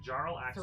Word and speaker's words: Jarlaxle: Jarlax. Okay. Yeah, of House Bonre. Good, let's spell that. Jarlaxle. See? Oh, AX. AX what? It's like Jarl Axel.